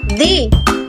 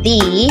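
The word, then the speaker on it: thee: Dan cara bacanya in general, we call this word the. But in Scottish, we call this word the. Jadi hampir sama kayak the, tapi vokalnya lebih panjang ya.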